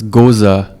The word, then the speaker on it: Gose: beers made and also uh is it pronounced ghosts uh it's a german word so it's goza yeah so yes the germans pronounce every letter um tell me about sour